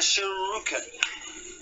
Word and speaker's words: shuriken: Shuriken.